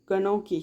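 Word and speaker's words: gnocchi: இதோட ப்ரொனவுன்ஸ் வந்து கனோக்கி.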